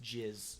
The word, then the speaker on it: JAS: I believe Jericho Appreciation Society, in short, is pronounced Jizz.